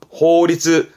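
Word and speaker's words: 法律: 호리츠, 호리츠. 음으로는 리스가요. 호리츠. 요거는 규자라 했던 거. 규율입니다.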